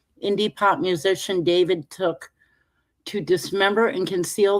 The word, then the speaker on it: D4VD: The brief said that David, pronounced David, 21, whose legal name is David Burke, had